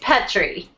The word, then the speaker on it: Pettrey: I was going to ask how to pronounce her last name correctly and forgot it's Petri Petri okay that's what I thought but I didn't